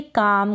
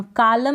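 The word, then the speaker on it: calm: के बाद एल है, हम एल को प्रोनाउंस नहीं कर रहे, तो इसको हम पढ़ेंगे काम, कालम नहीं पढ़ेंगे, काम का मतलब है शांति, इसको पढ़ेंगे फॉक, फॉल्क नहीं पढ़ेंगे, फॉक का मतलब है लोक।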